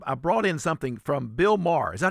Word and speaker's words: Bill Maher: I I brought in something from Bill Maher. Is that how you say his name? Logan. Bill Maher.